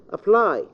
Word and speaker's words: apply: second syllable assist okay apply apply lie okay so it is apply the second syllable I say object the